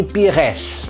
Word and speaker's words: Pires: terus SBY ujungnya dengan juga bunyi tapi sini Pires membuatnya gitu Robert Pires t dari si robeknya